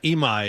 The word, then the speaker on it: Imai: Imai is his last name.